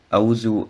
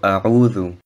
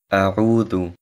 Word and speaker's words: أعوذ: Das Wort A'udhu sollte nicht wie Auzu ausgesprochen werden, also A'udhu, A'udhu und nicht Auzu.